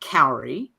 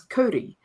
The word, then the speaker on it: kauri: Eventually, it turns out that he meant Kauri, not Cowrie. And it's a Maori word, and the pronunciation is Kauri. But New Zealanders who insist on not pronouncing Maori correctly will say Cowrie.